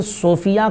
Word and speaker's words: Sofiya: अच्छा, इनका एक सवाल ये भी था कि सोफिया का माना क्या होता है?